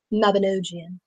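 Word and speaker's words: Mabinogion: And it's clearly said Mabinogian.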